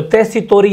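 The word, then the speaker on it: Tessitori: उच्चारण T है, अंग्रेजी T है, इसलिए टेस्सीटोरी या लुइगी पी. टेस्सीटोरी।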